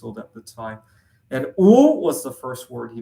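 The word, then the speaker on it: 五: 5 is a very lucky slash very unlucky number for me because in Chinese, the number 5 is pronounced "wu."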